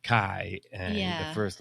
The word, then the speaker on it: Chi: Got actually not because the X is pronounced Kai and the first letter in whatever that word is is Christos.